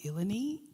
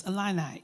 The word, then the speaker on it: Illini: was another student, and we were like, Eleni? The woman said, since you go here, it's Illini. You need to know how to say the name of your school. It's Illini.